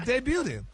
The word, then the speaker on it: debuting: What debuting?